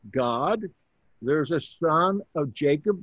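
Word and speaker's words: Gad: That's pronounced God. There's a son of Jacob named God. G-A-D. Remember that A is not like in English. It's an ah sound.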